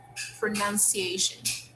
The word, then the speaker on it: pronunciation: Okay, this letter here, we can see that we spell with letter U, but we do not pronounce like we say the letter U. We say pronunciation.